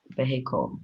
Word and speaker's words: vehicle: Vehicle. Or you can also pronounce as Vehicle.